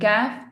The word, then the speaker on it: ك: And Kaf is pronounced lightly. The root of the tongue is flat.